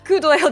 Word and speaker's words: coup d'oeil: Your careless coup d'oeil... Oh, God. Doyle? You read the D into the O like together for French. So it's like... Coup d'oeil?